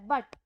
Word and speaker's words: bought: Word है, ये तो बहुत बड़ा वर्ड है, बट इसकी जो प्रोनाउंसिएशन है वो बिल्कुल छोटी सी है।